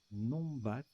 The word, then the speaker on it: numbat: Numbat. Alors, ça se prononce Nombat.